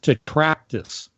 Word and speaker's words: tetractys: people will type in the word, and I'll pronounce it for you, it's tetractys, Tetractys, tetractys.